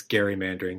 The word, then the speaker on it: gerrymandering: i guess technically there's somebody listening to this who's going to say it's gary mandering because the guy's name was elbridge gary but everybody pronounces it gerrymandering so it was inspired